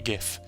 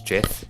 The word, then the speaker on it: GIF: But I was just saying you said GIF right the first time. Yeah. Because the creator of it actually wanted it pronounced as GIF.